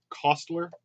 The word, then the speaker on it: Koestler: these are all from darkness noon by Arthur Koestler Koestler cost ler I'm on pronounce there's a signet classic published by the